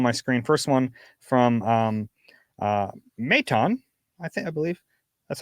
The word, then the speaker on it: Matan: First one from Maton, I believe that's how you pronounce Maton, that. M-A-T-O-N? M-A-T-A-N.